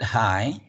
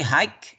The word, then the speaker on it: high: I think we all know that we do not pronounce the G and H, right? Yes. Just the first two letters, H and Yeah. I. But we, as non-native, we may say hike with k if we never heard this one.